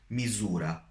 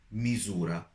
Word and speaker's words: misura: So when it is in a middle of a sentence between two vowels, you pronounce it as Z, Z. For example, misura, misura, which means measure.